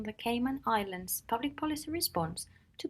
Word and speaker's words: Cayman: We shall start with an introduction to the Cayman Islands as a case study. Indeed, it is pronounced Cayman.